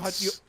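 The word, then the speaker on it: Szarabajka: Keith Serbakia.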